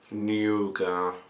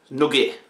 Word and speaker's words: Nugget: I know some people like to pronounce it Nougat. Nugget.